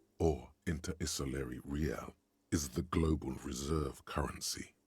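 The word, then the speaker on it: réal: you owe me 130 real pronounces the r with a mock aristocratic accent the i i r or inter isol real is the global Reserve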